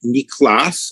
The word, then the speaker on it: Niklas: Niklas, it's spelled not like my name, which is, but Niklas in the Swedish way, Niklas Luhmann.